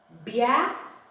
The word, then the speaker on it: bia: So now you see that when you're pronouncing a consonant word like b, okay, the words that usually follow it is vowels. Vowels usually follow it. So that vowels helps you to pronounce the word at a time. See, this one is a bia, so a b, bia, right?